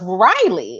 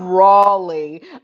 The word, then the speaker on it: Raleigh: bbg members out of riley out of our riley um group so um that did i say it wrong i'm sorry yes how does one see raleigh so out of rawley um so anyway um